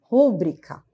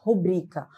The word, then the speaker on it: rubrica: ou seja, a forma adequada é justamente a sílaba forte no BRI, rúbrica, certo? Mas o contexto informal acaba ouvindo muito, né? Rubrica. E esse é o caso de que, na forma inadequada, a sílaba tônica está aqui. E a forma inadequada, certo? E a forma adequada, ela é a penúltima, certo?